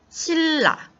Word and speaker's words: 신라: 읽어요 칼날 갈 다른 장 니은 2일로 바뀌어서 발음이 됐습니다 싱 너 신라 실라 마찬가지죠 그저 앞에 있던 이 애니 일로 바뀌어서